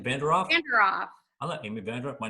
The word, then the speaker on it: Vanderoef: Vanderoef.